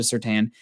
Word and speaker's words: Surtain: But Surtain, I think, also has, I said it right, everybody, thank you.